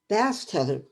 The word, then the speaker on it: Bastet: Bastet, pronouncing it properly, was an Egyptian goddess of love, sex, and fertility.